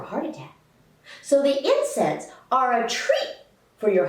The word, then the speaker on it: NSAID: non-steroidal anti-inflammatory drugs or nsaid pronounced incense nsaids include all the